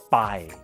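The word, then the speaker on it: ไป: this letter for example the word by which means go is often written as Pai this is not helpful actually it's this letter Bob blah bye go bye so grab the nearest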